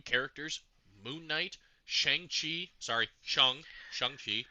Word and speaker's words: Shang-Chi: was introducing new characters, Moon Knight, Shang-Chi, sorry, Shang-Chi, correct pronunciation, Moon Knight.